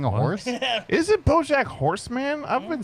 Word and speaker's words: Horseman: a it's not plural bro its horse man horseman anyway anyway you take